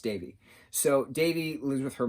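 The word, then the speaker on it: Devi: pronounce de VI it's felt de VI is pronounced Davey so Davey lives with her mom and her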